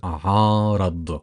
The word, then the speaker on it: عارض: The letter Ain, you pronounce it from the back of your mouth, and it is the equivalent of pronouncing 3 A's together, but obviously we do not extend that much.